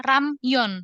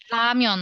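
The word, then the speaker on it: 라면: ada dua suku kata Jadi pelafalannya bukan ramion bukan tapi lamion lamion Iya jadi Mon jadi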